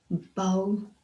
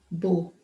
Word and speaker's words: bow: He wore a matching bow. If you noticed, I pronounced both words differently. Both words have the same spelling, B-O-W, B-O-W, but they have different pronunciation. In the first case, it is bow, and in the second case, it is bow.